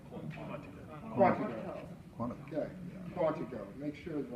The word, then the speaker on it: Quantico: He is also a graduate of the prestigious FBI National Academy in Quantico, Virginia. He holds, did I pronounce that right? Quantico.